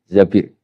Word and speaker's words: Zabir: Abdurrahman bin Zabir di di hadis ini bukan bacanya bukan Zubair tapi Zabir Abdurrahman bin Zabir tapi